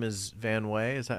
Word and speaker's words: Van Wey: yeah so your uh your last name is van way is that how you say it yeah are